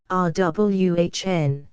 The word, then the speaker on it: Erewhon: be understood that uan is pronounced as a word of three syllables all short thus R WN preface to Second Edition